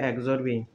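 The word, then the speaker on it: A XOR B: করা অর gate সেজন্য এ এক্সরবি এটা উচ্চারণ করতে হবে এক্সরবি সমান এটা একটি ফাংশন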